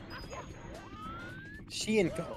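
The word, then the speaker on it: Hsien: blank and princess pink Sheen oh that's how you pronounce it I I could never figure out how to pronounce that cuz the H is in front of the S you love to see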